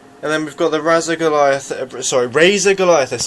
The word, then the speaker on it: Razer: And then we've got the Razer Goliathus. I always say Razer or Razer. It's clearly Razer, yeah, I say Razer. But then again, obviously, Razer is actually spelled with an O, so you get the idea.